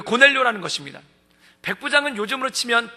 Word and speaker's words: 고넬료: 그 사람이 바로 그 고넬료 라는 것입니다 백부장은 요즘으로 치면 대위 정도에 해당되는 장교 적으로 이 고넬료가 우리 식으로 표현해 쓰니까 고넬료 g 라틴어 발음 으로 하면은 코르넬리우스 가장 전형적인 토종 논